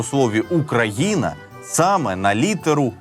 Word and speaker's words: Україна: якою говорять її діти Схоже що ні адже наголос у слові Україна саме на літеру г так само як і